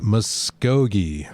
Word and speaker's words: Muskogee: just uh basically my own ignorance so uh muskogee muskogee magi ken allen will be joining us